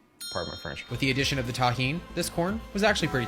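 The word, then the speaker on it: Tajín: everybody that knows the deliciousness of Tajin that's how you pronounce this it's delicious with the addition of the tahin this corn was actually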